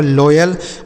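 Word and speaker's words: loyal: Next word है एल ओ वाई एल। एल से हो गया ल। ओ से ओ की मात्रा वाई से हो गया य और ए से यहां कुछ नहीं होगा एल से ल लिखा गया आपका लॉयल मतलब क्या होता है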